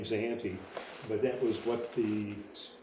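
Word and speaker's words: Sayante: group up here the Spanish called it was sahante s-a-y-a-n-t-e hence the name zahanti but that was what the the Spanish pronunciation of the Native American group that lived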